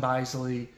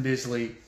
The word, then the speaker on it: Bisley: to say his name I've heard Simon Beasley pronounce his name so I'm gonna quit saying Simone basily once and for all it's it's Simon Bisley and uh I mean